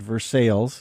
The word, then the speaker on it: Versailles: distilled in Versailles Kentucky got to pronounce that right these sales you can't say it the French way received yeah they pronounce it Versailles in Kentucky okay um straight bourbon